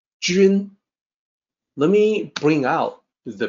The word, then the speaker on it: 君: When you look at that, you might say Jun, like the month, or Jun, based on the way that it's spelled, but it's actually Jun. It's a little tricky to sound out for a native English speaker. Jun.